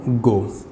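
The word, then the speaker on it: go: Friends, कुछ words होते हैं जिनको औ के थ्रू पढ़ा जाता है, जैसे मैंने यहाँ पर लिखा गो। तो गो को हम गो ना पढ़कर हम पढ़ेंगे गौ, गौ।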